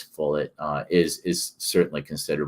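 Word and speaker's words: Follett: very much and Ken fullet I think that's how you say his name I want to say fle but I think it's fet uh is is certainly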